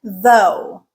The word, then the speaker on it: though: Second one is O, rhyming with go like though.